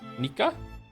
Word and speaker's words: Nika: If you're wondering, my name is pronounced like Nico, but with an ah sound instead of o. Nika?